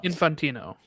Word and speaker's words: Infantino: I did wonder, though, like, as the FIFA president, I'm not even going to try to pronounce the name. I never get it right. Infantino.